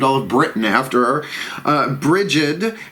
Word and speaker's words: Brigid: Brigid, B-R-I-G-I-D in this spelling. There's also Breed and Bridget, you know, as you would spell it.